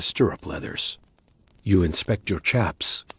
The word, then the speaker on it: chaps: You inspect your chaps, or shaps as the old hands pronounce it.